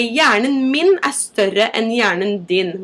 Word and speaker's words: hjerne: In Norwegian, it's pronounced hjerne.